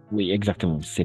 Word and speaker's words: ce: stylo h ce stylo attention ce stylo on va prononcer e fermé ce stylo h très